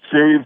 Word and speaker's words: Sirius: And we say, and when we say Serious, we mean spelled like the planet, S-I-R-I-U-S. Yes. Yes, yes, just like the star, yes. Not serious, yes, like important and like stern.